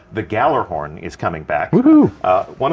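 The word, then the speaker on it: Gjallarhorn: rocket launcher called the galloran is coming back woohoo one of the most iconic weapons one of the most debated pronunciations I think we got it now in our game I'm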